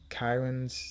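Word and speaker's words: cairns: across these three stone apparently Karens that they're pronounced k c a i r NS kirn I don't know uh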